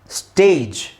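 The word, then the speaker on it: stage: ಜಿ ಇಯಲ್ಲಿ ಎಂಡ್ ಆಗಿದೆ ಇದನ್ನ ನಾವು ಸ್ಟೇಜ್ ಅಂತ ಹೇಳ್ತಿವಿ ಹೊರತು ಸ್ಟ್ಯಾಗ್ ಅಂತ ಹೇಳಲ್ಲ ಒಂದು ವೇಳೆ ನಿಮಗೆ ಸ್ಟ್ಯಾಗ್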